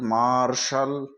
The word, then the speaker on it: मार्शल: L partial M ए आर टी आई एल मार्शल एफ ई सी टी आई L facial इसी